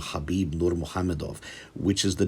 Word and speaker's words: Khabib: Whatever the case, in this video, I'd like to ever so briefly discuss the name Khabib Nurmagomedov, which is the name of a very popular, very successful, and deeply religious competitor in the sport of mixed martial arts.